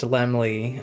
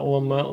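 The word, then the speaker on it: Laemmle: Lord Albert Lemley and it is pronounced Lemley. Uh, I know that's not lamel.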